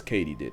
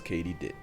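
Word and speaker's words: katydid: completely butchered that word turns out it's katie did as in did katie do it yes katie did i'm gonna mispronounce it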